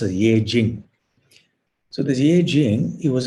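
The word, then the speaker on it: Yijing: was a chinese historian i think they call it i sing ing but i think it's pronounced yejin so there's eight he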